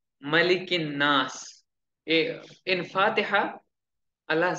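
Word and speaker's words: مَلِكِ النَّاسِ: Malikin Nas. We should pronounce it correctly.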